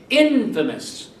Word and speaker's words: infamous: chapter 10 is Infamous again Accent on the first syllable Infamous so we have here